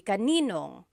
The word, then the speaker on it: kaninong: And then just a pronunciation tip, kanino ang can be put together in a contraction. It would be kaninong.